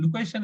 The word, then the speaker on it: location: So when a noun ends in tin or tins, we have to stress the syllable before the tin. So the syllable before tin is a ca. So location. So it should. So we need to stress on ca.